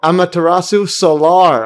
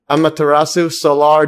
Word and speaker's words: Amaterasu Solar: Yeah, did I pronounce it correctly? Let's try it again. Amaterasu Solar. Oh, Amaterasu Solar. Okay, Solar. Yep. Amaterasu Solar joins the show to discuss her father's work